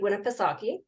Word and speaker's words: Winnipesaukee: He is on Lake Winnipesaukee.